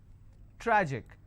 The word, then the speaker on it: tragic: it's pronounced at panic tragic tragic I will stress on tra Magic I will stress